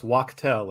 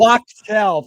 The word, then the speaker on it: Wachtell: And a special thanks to Brooks Wattell for hooking us up. How do you pronounce Brooks' last name? I don't, but Brooks Wachtell is how he pronounced it. Wachtell.